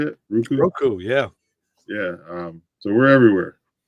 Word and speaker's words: Roku: Roku, yeah.